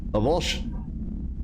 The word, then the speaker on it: avulsion: That means the action of pulling or tearing, and it's properly pronounced avulsion.